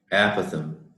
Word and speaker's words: apothem: e M so this is the way you pronounce it all right let me turn that up a Pithom okay so if you look at this let